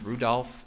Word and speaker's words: Rudolph: Special Agent Peter Rudofsky, that's R-U-D-O-F-S-K-I, and it's pronounced Rudolph and then Ski.